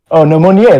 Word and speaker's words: Monnier: Monnier, that's how you pronounce this name.